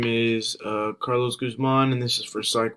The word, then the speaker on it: Guzman: when I was younger, everyone always called me Goose Man because they couldn't pronounce it's Guzman, but everyone would always say Goose Man because they wouldn't pronounce it right.